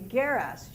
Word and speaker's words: geras: The word for old women, well, geras, hard G in Greek, would be geras, G-E-R-A-S, old women.